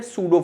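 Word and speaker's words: pseudo: ठीक है, इसको हम इंग्लिश में बोलते हैं सूडो फोर्स। इस तरीके के फोर्सेस को अपन बोलते हैं इंग्लिश में सूडो फोर्स। स्पेलिंग एस से स्टार्ट नहीं होगी, स्पेलिंग स्टार्ट होगी पी से, पी साइलेंट होता है इसमें।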